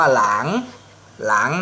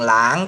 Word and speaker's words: 狼: ตัว นี้ ตัว อักษร ตัว นี้ อ่าน ว่า หลัง นะ ครับ เสียง ลอลิง หลาง แปล ว่า หมา ป่า